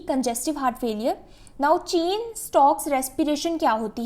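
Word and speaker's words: Cheyne-Stokes: इसको आपने अपने माइंड में आप स्पेलिंग याद रखने के लिए काइने या कुछ भी बोल सकते हैं, वैसे इसको प्रोनाउंस करते हैं चेन स्टॉक्स ब्रीदिंग।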